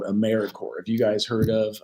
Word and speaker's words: AmeriCorps: Sometimes people pronounce the P, but don't make that same mistake. AmeriCorps is alive and well, just spelled with a silent P.